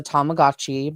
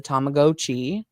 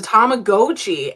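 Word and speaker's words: Tamagotchi: the first one and you told me the correct pronunciation uh which I was always raised that was a tomagotchi but it's a tomagoi yeah it's a tomagoi every video that I was watching and apparently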